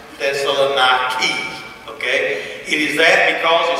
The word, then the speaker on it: Thessaloniki: That's how you actually pronounce Thessaloniki.